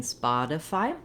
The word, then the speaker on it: Spotify: of all the for the stressed syllable is a syllable spot and it's just like the word spot except that um we don't say the t the same in spot as we do in spotify because the t is in the middle of the word so let's break it